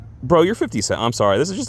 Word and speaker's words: 50 Cent: She's like, she keeps calling him 50 cents to be funny. And people are like, no, it's 50 Cent.